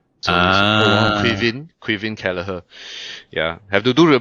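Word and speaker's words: Kelleher: it's a Gaelic version of Kevin Quin Kalaher. Yeah. Have to do a bit of research otherwise you know we mispronounce names on the show.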